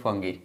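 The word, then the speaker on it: fungi: अब इसमें कंफ्यूजन रहती है, कुछ लोग फंजाई से प्रोनाउंस करते हैं, कुछ लोग फंगी।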